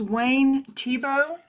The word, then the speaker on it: Wayne Thiebaud: Uh, this is Wayne Tibo is how you pronounce it.